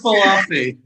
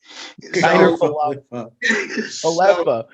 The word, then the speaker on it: Falefa: If that addresses a significant need and improves I know that's not how I say his name. Iker Falafi. I can't help it. That's just how I say his name. Falefa.